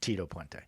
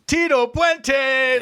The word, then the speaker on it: Tito Puente: also feel like Rob you're doing it a little wrong when you say his name is Tito pente I feel like you have to say his name is Tito pente like he's got like a Pizazz to him you know he definitely